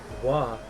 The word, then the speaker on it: は: It's pronounced wa. Yes, I know what I know that. Did I say ha? I meant wa, but to be fair, it's also the hiragana for ha. Watashi wa Tomu desu.